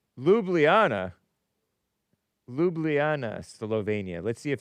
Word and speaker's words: Ljubljana: Ljubl Ljubljana, Slovenia pronounce. Okay. Ljubljana. Ljubljana.